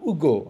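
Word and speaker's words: Hugo: দেশের কথা যদি বলি ভিক্টর উগো আপনারা ভিক্টর হুগো বলেন অনেকে ফ্রাঞ্চের উচ্চারণ এইচ এর উচ্চারণ ভিক্টর ভিক্টর মারি উগো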